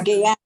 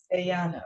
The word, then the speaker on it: Guyana: Did I pronounce that right? It's Guyana. gay. Guyana.